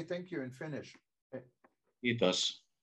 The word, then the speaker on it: Kiitos: Kiitos. Kiitos.